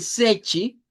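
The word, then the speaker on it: seis: El sechi, debemos decirlo con ch e i y el noi con una i.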